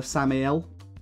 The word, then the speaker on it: Samael: But for now, we've got the regular Samael, as people have told me it's properly pronounced, not Samuel, Samael, Samael, something along those lines.